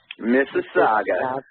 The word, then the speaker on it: Mississauga: you'll be in a city that I can't pronounce which is called miss its help me out just Mississauga thank you she he didn't embarrass duty belt